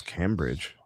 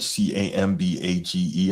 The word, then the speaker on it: Cambage: Liz Cambridge. Say again. What the hell's Liz Cambridge? Liz Cambridge, she's a former WNBA MVP. Spell it? Cambridge, Cambage, I believe. Oh, okay. Because he said Cambridge.